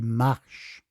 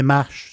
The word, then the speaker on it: Marche: On l'appelle, si on le prononce, les Marches. Si on le prononce en italien, c'est les Marche.